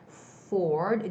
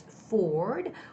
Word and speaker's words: forward: and for some koreans i know you guys have a hard time pronouncing the f words right forward do you see my lips it's not touching each other it's forward or it's forecast forecast right unfortunately this word